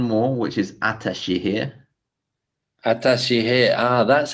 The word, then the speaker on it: Ataşehir: pseudonym there's one more which is atashi here atashi here ah that's how you pronounce it yeah it's just that little s